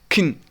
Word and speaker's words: can: In fast speech, can is reduced to just like kin. We pronounce it like kin.